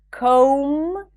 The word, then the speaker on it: comb: Do not pronounce the B in words ending with the spelling pattern MB, like climb, comb, lamb, bomb.